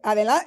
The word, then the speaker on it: adelante: For those of you that don't speak Spanish, they're watching, it's like, you could say adelante.